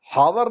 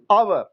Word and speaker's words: hour: अब H letter जो है वो वॉवेल है या कॉन्सोनेंट? बोलिए। कॉन्सोनेंट है, लेकिन यहां पे इसका उच्चारण ह नहीं हो रहा है, हावर नहीं बोलते हम लोग, क्या बोलते हैं? आवर, और अ साउंड जो है वो वॉवेल साउंड है।